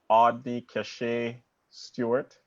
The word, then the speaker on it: Audny-Cashae Stewart: Her name is Audny-Cashae Stewart.